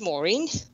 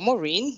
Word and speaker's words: Maureen: the beatles wives so my first name is maureen or maureen yeah doesn't matter how you pronounce it english way or the us way and i have three